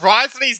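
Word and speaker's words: Wriothesley: Yeah, Risley's name is fucking wild. Like, Nuvalet's makes, like, actually sense to how it's spelled, man. But Risley is like, what are we even doing?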